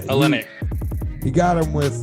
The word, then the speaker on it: Olynyk: matched up with kelly how do you say it i think it's all brick oh i've got like yeah whole link or yeah um olynyk okay yeah olynyk you got him with